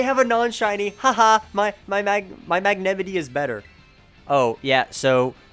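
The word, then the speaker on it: Magnemite: Haha, my Magnemity is better. Oh, yeah, so it's actually pronounced Magnemity, like Yosemite.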